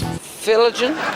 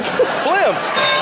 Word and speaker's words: phlegm: Pronounce this word and use it in a sentence. Filligan? Filligum. You want to use that in a sentence? Not particularly. Phlegm.